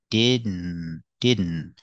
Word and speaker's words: didn't: We see with didn't, make the stop D fall to the N, didn't. And the T at the end is a stop T, didn't.